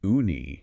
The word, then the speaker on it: uni: And for anyone wondering, it's pronounced uni.